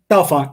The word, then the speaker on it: Bellefonte: Bellefonte, yep. Mm-hmm. Bellefonte. Center County. Can I pronounce it Bellefonte?